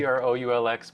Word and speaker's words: Proulx: Proulx, but it's just like true, blue, same. Yeah, exactly the pronunciation.